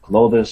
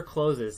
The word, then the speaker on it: clothes: uh you know some clothes some appliances clothes never closes never never say closes it's always closed like like you just you pronounce it just like the word close is closed yeah yeah